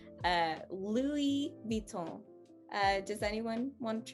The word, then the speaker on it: Louis Vuitton: brand is italian so we will go lu we're gonna go really really um very i don't know i like to say it's very european uh but a lot of european accents are different uh but yeah you really want to mimic that that europeanness just think that you are italian think of pasta and you should be able to crack this one uh louis viton uh